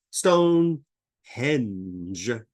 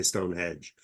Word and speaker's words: Stonehenge: and Denmark well first Stone Henge is the correct pronunciation most people say Stone Hedge because we think of a hedge around a house with trees henge is a prehistoric